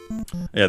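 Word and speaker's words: いえ: Yeah, the fundamental meaning, one's house, one's home. Not just a house, because that for that we use the term ye, accent on the last syllable.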